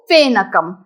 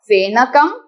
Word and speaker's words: फेनकम: फेन होता है वो फेनकम लेकिन संस्कृत में एफ ए फर्स्ट साउंड तो होता ही नहीं है। सो क्लियरली हम उच्चारण करेंगे नॉट फेन कम बट फेन कम।